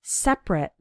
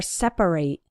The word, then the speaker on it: separate: common that's the word separate or separate now when the word is used as an adjective then we pronounce it like separate for example men and